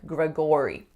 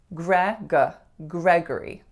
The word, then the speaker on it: Gregory: For this name, I often hear something like Gregory, but we don't say that O or sound, we say G. Gregory.